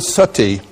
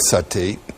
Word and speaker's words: sati: You know the word sati? In Sanskrit it's spelled S-A-T-I, long I.